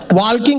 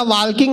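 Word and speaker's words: walking: वॉकिंग करते करते टाल्किंग करेंगे। मैंने कहा वॉकिंग नहीं वॉकिंग होता है, टाल्किंग नहीं टॉकिंग होता है, इसमें एल साइलेंट आता है।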